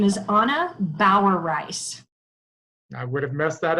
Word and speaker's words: Bauereis: easy one so I'm going to let you pronounce it my name is Anna Bauer rice I would have messed that up completely so